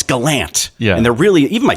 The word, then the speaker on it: Gallant: funny to point out I say I say you know Galant right and my whole family says no it's Galant and they're really even